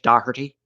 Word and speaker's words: Docherty: u.s from spencer daherty docherty is that irish docherty when i was in ireland that's how they pronounce it hey my name's my name's sheamus odahurty uh i don't think